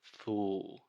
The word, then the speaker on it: fools: the correct pronunciation is full full this is a very difficult sound this final l sound in linguistics many times we call this the dark l but the biggest thing